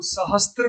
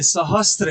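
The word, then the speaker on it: सहस्र: सहस्त्र लिखा हुआ है इसे यदि हम सहस्त्र बोल रहे हैं तो हम गलती कर रहे हैं। सहस्त्र तो है ही नहीं। त तो है ही नहीं इसमें। इसलिए त का उच्चारण नहीं होना चाहिए।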